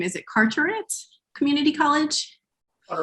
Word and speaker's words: Carteret: tech i'm sorry i don't know how to pronounce the first name is it carteret community college all right carteret thank you um more wake tech and former